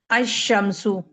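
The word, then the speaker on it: الشمس: शद आती है और लाम जो है वो साइलेंट हो जाता है। अशमसु।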